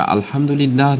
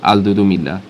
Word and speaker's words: আলহামদুলিল্লাহ: শব্দগুলো আরবি হওয়ার ফলে এ সকল হিন্দুত্ববাদীরা সঠিক উচ্চারণটিও সঠিকভাবে করতে ব্যর্থ হয়। অন্য আরেকটি মেসেজে তারা আলহামদুলিল্লাহ না বলে আলদুদুমিল্লাহ।